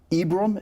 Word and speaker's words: Ibrahim: But of all your heroes, Elizabeth, Joyce, Ron, Ibram, is that Ibrahim, correct? yeah. Ibrahim is how Yeah. you pronounce it.